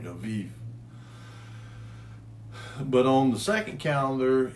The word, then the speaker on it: Aviv: So the first month of the Hebrew calendar in the first calendar was Aviv, because their B's are pronounced with the V's, like Aviv.